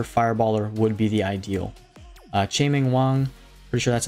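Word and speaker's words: Chien-Ming Wang: Chae-Ming Wang, pretty sure that's how you say his name. Yep, Chae-Ming Wang.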